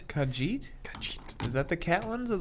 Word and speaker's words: Khajiit: Elder Scrolls one's called yeah that's it it's Khajiit is that the Catalans of the lizard ones